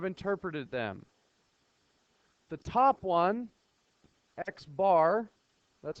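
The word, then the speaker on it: x̄: The top one, Xbar, that's how we pronounce it.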